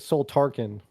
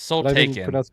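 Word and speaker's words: Soultaken: Is it soul taken? Cuz in the book they always pronounce it soul tarkin. It's soul taken.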